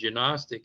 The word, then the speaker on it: gnostic: doesn't exist, or that the G in gnostic is silent when it's not.